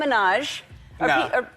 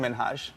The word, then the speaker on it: Minhaj: And it's Hassan Minaj. Yes. No. Really? Well, my name is Hassan Minhaj.